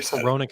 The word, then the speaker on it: Hronek: It's pronounced Hronek, but it's got an H, and you're just like, what the hell?